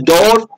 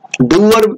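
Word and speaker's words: dour: So we can say is door, doer we can say, or we can say like sore. Both ways are acceptable. You can say door or doer.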